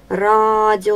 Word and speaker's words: радио: 1 лук на день радио ударение на первый слог позвонишь ударение на третий